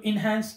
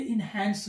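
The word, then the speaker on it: enhance: को इंक्रीज करना, लेकिन ये याद रखें ये इनहैंस नहीं है, ये इनहांस है। करेक्ट प्रोनाउंसिएशन इज इनहांस, क्योंकि हमारे पाकिस्तान में ब्रिटिश एक्सेंट को फॉलो किया जाता है। इनहैंस ये अमेरिकन एक्सेंट है।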